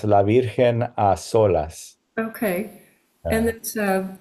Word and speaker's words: La Virgen a solas: Okay, without the S? It should have the S, La Virgen a solas.